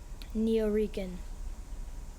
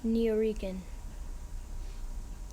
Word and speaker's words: Neo-Rican: Neo-Rican. Are there any alternate pronunciations? There are none. Neo-Rican.